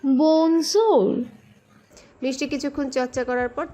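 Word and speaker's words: bonjour: ফরাসিতে আমরা বলি বনজোর। মিষ্টি তার উচ্চারণের চেষ্টা করলো। বঞ্জুর। না আপু, একটু নরম করে বলুন, শুনুন, বনজোর।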